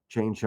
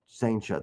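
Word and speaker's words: Cijntje: it because you've got guys like Chaincha. I always mispronounce that. The switch pitcher, close. Saincha, thank you.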